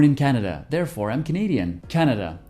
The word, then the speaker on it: Canada: Canada, l'accent est sur la première syllabe, alors que dans Canadian, il est sur la deuxième.